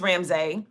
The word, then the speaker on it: Ramsy: m s y and they say oh Ramsey I said no ramse and they say R A Ms a y I said yes ramse not ramse e you